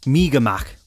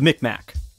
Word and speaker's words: Mi'kmaq: The best I can pronounce their name is Mi'kmaq. That's the best I could do, so please forgive me. Commonly referred to by outsiders as the Mi'kmaq.